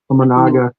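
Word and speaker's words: Imanaga: Now juxtapose Paul Skeens to a guy like Shota Managa. Is that how you say it? Managa, yeah.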